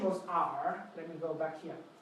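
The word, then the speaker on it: 尔: It's pronounced R, and it's an old way of referring to you, but it's not really used anymore.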